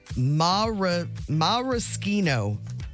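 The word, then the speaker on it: maraschino: Marishino cherries. That's how you say it, right? Yeah. They say it's marchino.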